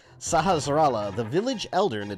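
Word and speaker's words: Sahasrahla: am indeed so I've never taken the time to pronounce that properly sahasrallah I always say saharashtra sahasrallah the village Elder and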